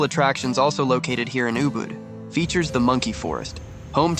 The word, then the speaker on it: Ubud: most popular destinations in Bali Ubud is pronounced as ubad which means medicine spiritual